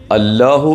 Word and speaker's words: അല്ലാഹു: വാക്കാണ് അള്ളാഹു കൃത്യമായി ഉച്ചരിക്കണം തഫ്ഹീമിന്റെ കനപ്പിച്ചു പറയേണ്ട ലാമാണ് അല്ലാഹുവിലെ ലാം ഇനി മറ്റൊരു അത്ഭുതം അള്ളാഹു